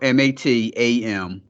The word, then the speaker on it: Matamoros: Matros. No, Matamoros. Matamos.